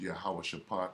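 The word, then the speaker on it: יהושפט: into the valley of jehoshaphat which is also it's it's pronounced yehawa shapot in the ancient hebrew ballast and we'll plead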